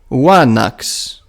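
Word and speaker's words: ἄναξ: words of Messenian origin, such as anax, which is wanax.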